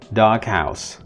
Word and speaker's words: doghouse: So it's the phoneme G and then the sound H. So it is pronounced as such, doghouse.